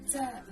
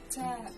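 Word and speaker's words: تاء: The pronunciation is like the English T, except you should release your breath with a strong burst of air. Try it. Ta.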